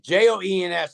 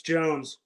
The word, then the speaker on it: Jones: yeah Ashley Jones yeah Jones or Jones it's Jens I may be pronouncing it incorrectly no it's Jones okay yeah so I